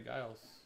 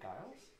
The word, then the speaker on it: Giles: i missed this harry guiles and this jared allen both numbered you say giles yeah is it harry generals well then then wouldn't it be jiff instead of gif based on that harry giles to 349